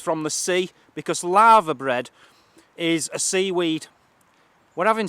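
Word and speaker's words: laverbread: for us tea we're having lava bread that's spelled l a v e r bread all one word if you want to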